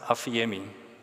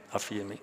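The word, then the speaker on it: ἀφίημι: Dis the primary verb here and it's pronounced afiemi, nê? Afemi. Ok.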